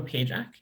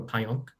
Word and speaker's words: Pajak: so i'm pajak and i suppose there are enough europeans present to say my name is pyong um and i'll be